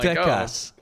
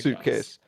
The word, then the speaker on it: Suitcase: It's so I'm Sutekas. Sutekas, yeah, Sutekas. But no, he's Suitcase. Okay. Like much deeper, and I honestly think that I don't know how to say this guy's name either.